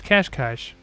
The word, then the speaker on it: Cascais: I know it's spelled with no H's, but I looked up extensively to make sure I did not mispronounce it this evening. And sure enough, it's Cascais.